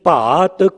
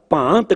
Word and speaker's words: भात: भांत कई बार भांत मूँह चों निकल जाता, बिंदी से नहीं लानी उत्थे कई बार लग जाती है।